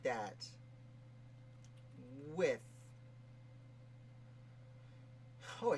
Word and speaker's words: Wythe: It's a lot of decades of calling him Wythe that I finally have gotten over. Now that I call him with.